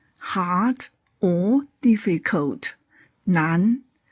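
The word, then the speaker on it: 难: Nan. Hard or difficult. Nan.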